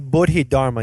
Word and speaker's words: Bodhidharma: So tell us about the man named Bodhidharma. Am I saying it right? Yeah, Bodhidharma, yes.